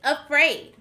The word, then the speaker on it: afraid: This word is afraid. We hear the sound at the beginning of the word this time.